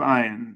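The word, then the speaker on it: Ayn: statements are truly outrageous it's pronounced an Rand no it's not it's iron Rand religion is innocent people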